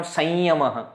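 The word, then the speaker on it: saṃyamaḥ: So, according to this first rule, this will become samyamaha. According to second rule, it will become sanyamaha. Where there is Anunasika possible, you pronounce it as Anunasika.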